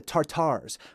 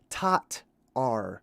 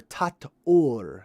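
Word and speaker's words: Tatar: to figure out the tartars well we figured out that it's not tartar it's actually tot r or tat or i should say that's really a little bit better of a pronunciation tattoo so tat we're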